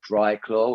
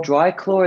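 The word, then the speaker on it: Driclor: you get sweaty hands buy this stuff called dry claw which is spelled d-r-i-c-l-o-r dry claw is actually a product that is you can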